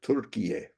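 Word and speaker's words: Türkiye: So anyway, and it sounds right, Turkiye, because that's how they say it in Turkish, and why not?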